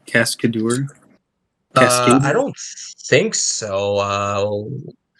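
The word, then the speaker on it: Cascadeur: uh Cascade or I think that's what's called cascador I don't think so uh what's it called Cascade tour so it's spelled like c-a-s-c-a-d-u-r so okay you might benefit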